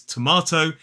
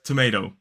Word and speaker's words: tomato: So in a modern British RP accent, this word is tomato, and in American English it's tomato.